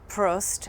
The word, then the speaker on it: Prost: the Jersey Shore for Prost. I always say it wrong. What's the correct way to say it? You said it right.